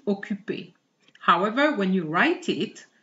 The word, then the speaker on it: occupé: However, the pronunciation is not affected. Je suis occupé.